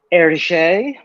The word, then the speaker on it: Hergé: that like someone suggested that I draw like eriche which I've had to look up the pronunciation before doing this episode because I knew